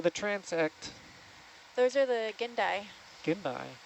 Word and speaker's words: gindai: Those are the gindai. Gindai. How do you say it? Gindai?